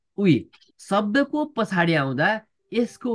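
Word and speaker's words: 의: यसको मतलब के हो भन्नुहुन्छ भने मेन कुरा त शब्दको अगाडि आउँदा यो उइको उच्चारण उइ नै हुन्छ भनेर बुझ्नु होला।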